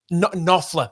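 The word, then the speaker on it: Knopfler: Um, written because old mate, now I can't pronounce his last name. Mark, is it um cop? Nofler. Nofler. Nofler. Okay. So, so old mate Mark Nofler, he stumbled into a bit of a dive bar in London.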